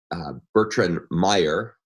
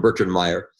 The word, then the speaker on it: Bertrand Meyer: famous computer scientist named Bertrand Meyer I'm not pronouncing his name with the correct French accent but he doesn't mind if we just call him Bertrand Meyer and he had a